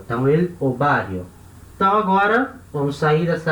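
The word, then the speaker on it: ovario: Na hora de falar, lembrando que essa letra UB tem som de B de bola, então ele, ovário.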